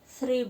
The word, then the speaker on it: three: Ada tiga, three books, tiga buku. Karena jamak ada banyak, maka berimbuhan s bukunya, three books. Ini juga TH, cara pengucapan TH tipis ya, th, bukan teh. Three.